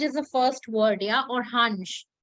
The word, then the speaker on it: Orange: the first word yeah or hanj it is remember the orhanch and the orhanjan that is the pronunciation for the plural yeah then we have